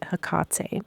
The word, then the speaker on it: Hecate: was like okay well you don't say her name HEC you say hak because disrespectful pretty much